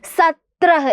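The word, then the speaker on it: सत्रह: സത്ര എന്നാണ് പറയുന്നത് നോക്കിക്കേ സ ഇട്ടുകൊടുത്തു അത് കഴിഞ്ഞിട്ട് ത്ര എന്നുള്ള ചിഹ്നമാണ് അല്ലേ ഇത് എന്താണ് ത്ര എന്ന് പറയുന്ന ചിഹ്നമാണിത് ഓക്കേ സത്രഹ് എന്താ വായിക്കുന്നത് സത്ര എന്നാണ്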